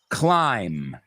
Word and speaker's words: climb: So, climb, thumb, dumb, numb, bomb, tomb. What do all these words have in common? The B's are completely silent at the end.